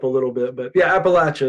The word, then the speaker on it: Appalachia: But yeah, Appalachia is the right way to say it, I believe.